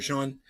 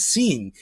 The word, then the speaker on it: Sean: That we say that SEAN is pronounced Sean. G-Day mate. I'm like, it's not pronounced Sean, it's seen. Everybody can see that says seen. SEAN. Seen. And yet we all just act like we don't know that it says seen and we call them Sean.